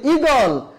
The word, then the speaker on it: ঈগল: অর্থাৎ আমরা যদি বলি ইলিশ তাহলে হ্রস্ব ই দিয়ে লিখবো, যদি বলি ঈগল, বানান লেখার সময় দীর্ঘ ইকার, কিন্তু উচ্চারণ লেখার সময় হ্রস্ব ই দিয়ে লিখবো।